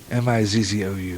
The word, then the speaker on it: Mizzou: announced his commitment to Mizzou, M-I-Z-Z-O-U, Mizzou, I guess that's how you say it.